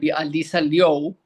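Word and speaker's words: Alysa Liu: medalist figure skater Alyssa Louu or she's Chinese American so it' Alisa Leo, that's how you pronounce her name.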